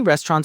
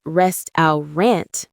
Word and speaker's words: restaurant: This word has three syllables. Rest dow rant. The stress is on the first syllable. Many learners say rest rant with stress on the last syllable, but that's not correct.